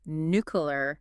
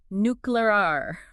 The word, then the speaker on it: nuclear: for being mispronounced nuclear do you ever hear people say nuclear all the time drives me crazy it's like they're trying to make it sound cute which is not what nuclear energy is at all yeah yeah you're not alone that pronunciation is incredibly common these days but we know to say it nuclear you know with the power